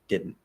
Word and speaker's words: didn't: like did and then when you go back to that d position you don't actually pronounce the d at all you just do like